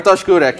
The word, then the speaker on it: Bartosz Kurek: You wanted to mention something about a Polish player whose name I will let you pronounce. Yeah. Sure. Yeah. Am I right? Yeah, sure. Bartosz Kurek.